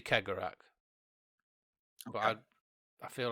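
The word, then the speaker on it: Cegorach: laughing god who is keegarak i hear you ask who traveller ki garak and i've looked up the pronunciation mm-hmm and it's actually kegerak but i'd i feel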